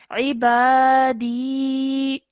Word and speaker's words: عبادي: Okay, now this ya madda would remain. So you're saying ibadi. عبادي. Okay, so when you're stopping, there's no change. So you would carry on as normal.